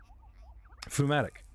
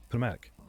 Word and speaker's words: pneumatic: Pneumatic. Spelt like phlegm. P-N-E-U, pneumatic. Pneumatic.